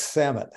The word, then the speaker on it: Samet: It's as easy as it looks, Samet.